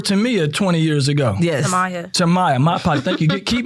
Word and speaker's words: Tamiya: Tamiya, my part.